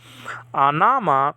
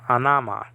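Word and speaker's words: ὄνομα: Anama, name.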